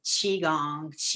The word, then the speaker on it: qigong: one of the things that i i do primarily is um called qigong i know if people are familiar with qigong means energy work it's ancient i don't know i have a problem even pronouncing that is q-i-g-o-n-g chi gong means energy your life energy you